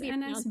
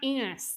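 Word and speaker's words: Ennis: And that was really frustrating for me because I was like, it's not enus. That's too close to penis.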